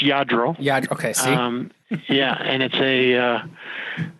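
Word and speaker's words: Lladró: You actually, you made a note, and I wanted to ask you, so like, would today's, collectible cars become, Ladro figurines?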